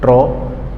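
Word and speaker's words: trough: उस पॉइंट को हम क्या कहते हैं ट्र ट्रॉ टी आर ओ यू क्या थी ट्रॉ की स्पेलिंग?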